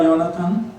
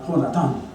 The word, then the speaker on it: Jonatán: bondad por amor a Jonathan?" Ah, Jonatán. Es Jonatán. Esa es la la perdón. Esa es la la pronunciación. correcta. Correcta.